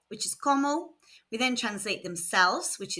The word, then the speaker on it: comment: The T is silent on como.